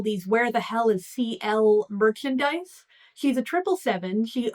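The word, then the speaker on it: Ci~L: CL, whose name contains a tilde. It's pronounced CL as I say.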